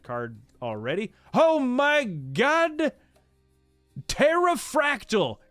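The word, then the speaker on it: Pterafractyl: Terrafractal, because the P is silent.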